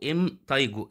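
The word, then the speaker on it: impetigo: الوسطي طيب بعد كده الام تايجو البي سايلنت البي ما بتتنطق مرض اسمه الام تايجو ام تيجو ام تيجو ايه الام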